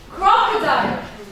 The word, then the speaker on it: crocodile: So, crocodile.